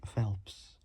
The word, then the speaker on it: Phelps: Roger Penske, and Mike Phelps. Can't really pronounce it well. It's the letter P and then the word helps.